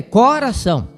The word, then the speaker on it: coração: Então, a pronúncia correta é coração. Coração. Eh, você fala assim, eu eu falo decor e não decor.